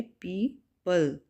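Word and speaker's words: people: पीपल, ओ जो है ओ की साउंड देता है, तो ये यहाँ पे स्टेरिक लेटर जो है वो साइलेंट लेटर है, ओ साइलेंट लेटर है और इसको प्रोनाउंस ऐसे करेंगे पीपल, पीपल, ठीक है, लोग,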